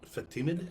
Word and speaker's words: Fatimid: groups were called the fatimid and they were very famous very powerful group the fatimid fatimid f-a-t it's like fat and timid mixed in fatima is that